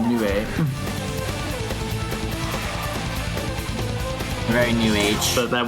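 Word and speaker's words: 鵺: Although I believe that the Japanese pronunciation is Nue.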